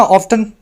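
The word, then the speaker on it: often: ऑफन इसको ऑफन भी बोला जाता है। ब्रिटिश इंग्लिश में यह टी साइलेंट होता है। ठीक है? इंग्लैंड की तरफ जाओगे तो टी नहीं बोला जाता। अमेरिकन इंग्लिश में ऑफन बोल देते हैं। टी को साथ में प्रोनाउंस करते हैं।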